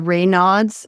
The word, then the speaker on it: Raynaud's: I was a teenager and I have some circulation issues even back then, the Raynaud's syndrome, I think, is that how you say it?